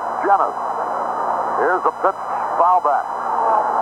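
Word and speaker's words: Llenas: L-L-E-N-A-S, pronounced Jennings.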